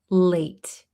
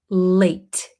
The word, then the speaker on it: late: So here we kind of swallow this T. Excuse me. We don't pronounce it late. Like we don't really pronounce the strong T when we talk very quickly.